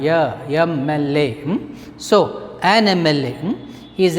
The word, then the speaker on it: MLA: The pronunciation of MLA begins with a vowel sound. MLA.